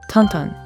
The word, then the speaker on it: Tintin: ourselves more familiar with Tinten or Tantan as originally pronounced in Belgium.